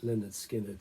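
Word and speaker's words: Lynyrd Skynyrd: number four the opening the debut album from Leonard skinnard pronounced Leonard skinnard so a band named after their their gym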